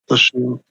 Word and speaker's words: Lashoa: Lashoa, right? That's how you pronounce it. Lashoa.